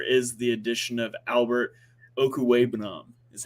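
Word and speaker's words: Okwuegbunam: this year there is the addition of Albert Okuwebunam, is how you say that, but we're just going to go with Albert O.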